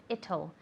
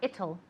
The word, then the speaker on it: it'll: have problems pronouncing this so it's like italy but without the y okay so you say italy take out the y ittle there you go okay